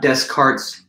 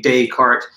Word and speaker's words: Descartes: so i mean um you would want to say with a silent or soft s it's not descartes you know you're kind